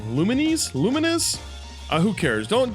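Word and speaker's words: Lumines Live: um it includes uh luminous live I know I'm pronouncing that wrong lumines luminous uh who cares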